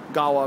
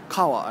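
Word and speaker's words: Edogawabashi: Gawa means river. Kawa actually means river, but when it's put after a word, the pronunciation changes, because Japanese is crazy.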